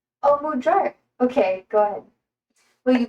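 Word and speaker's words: magyar: Is it insulting to your to your culture for me to ask that uh pronounce uh mudar? Oh, mudjar.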